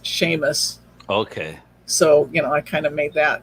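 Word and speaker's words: Seamus: it's spelled differently but james in scottish is sheamus okay so you know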